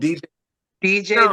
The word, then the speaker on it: Diijai: work to do uh it's pronounced DJ the singer oh DJ okay yeah